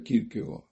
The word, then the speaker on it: Kierkegaard: Tengo que hacer un pequeño desvío, un excursus, para decir quién es Kierkegaard, que lo verán escrito como Kierkegaard, Kierkegaard, con K las 2 veces, pero se pronuncia Kierkegaard.